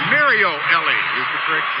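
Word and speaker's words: Mario Elie: the daily mario now excuse me mario ellie correct pronunciation using with that sore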